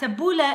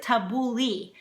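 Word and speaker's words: tabbouleh: which is tabula yeah tabula is how you pronounce it a lot of people for some reason pronounce it tabuli but it's not tabuli it's tabula tabula is that parsley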